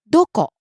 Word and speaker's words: どこ: どこ、 Where? どこ、どこ、 Starts high, falls.